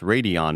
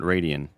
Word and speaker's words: Radeon: Says AMD Radeon is pronounced pronounced Radeon, not Radian.